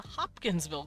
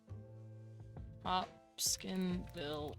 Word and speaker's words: Hopkinsville: Hopskinville goblin. I think it's called Hopskin. Yeah, Hopskinville. So, or Hopkinsville. Sorry, I pronounced it wrong. You gone. I I moved an S in the wrong part.